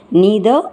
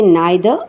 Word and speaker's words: neither: Neither nor, or you can even say neither nor. Neither or neither. Both the pronunciations are correct.